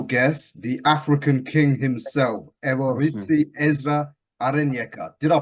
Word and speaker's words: Ezra Arenyeka: Right, here for Punch Out Boxing with a special guest, the African King himself, Ezra Arenyeka. Did I pronounce that right?